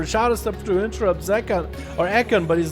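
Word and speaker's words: Zekhan: I want to say Zekon. It's a 3. That's why I called it Ekon. But also the 3 looks like another letter. Zekon is Zekon. Okay, chat confirms Zekon. So I've been saying it wrong.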